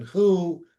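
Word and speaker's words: הוא: That All we last, know is the text has it written the same way, but the oral tradition has it pronounced masculine who, ben who, and feminine he, bat he.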